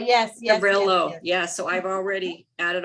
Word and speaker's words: Trauvello: Yes, Trevello, yes. Trevello, yeah, so I've already added all those in.